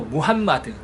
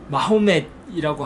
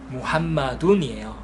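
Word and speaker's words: محمد: 한국어에서는 이제 마호멧이라고 하고 마호멧 막 이렇게 발음하는데요. 역시 잘못된 표현입니다. 이것도 영어권 때문에 그런 것 같은데요. 이제 정확히 이슬람의 언어인 꾸란의 언어인 아랍어에 하면 무함마둔, 알라후처럼 무함마둔이에요. 무함마둔 이제 문법적으로 따라서 무함마둔, 무함마단, 무함마딘 이렇게 변하기도 하는데 원형은 무함마둔. 그래서 이제 쉽게 알라후를 알라라고 표현하는 것처럼 무함마둔을 무함마드 이렇게 발음할 수 있어요.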